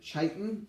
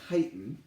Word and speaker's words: chitin: of something called well i've heard it pronounced two ways either chitin or chitin okay and so its